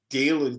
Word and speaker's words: Dalen: It's Dalen Terry, not Dallin Terry.